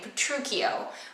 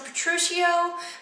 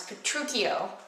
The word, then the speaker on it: Petruchio: you pronounce his name, Petruchio, with a k sound. A lot of people pronounce it Petruchio, but I don't think that's correct. I was always taught it's Petruchio.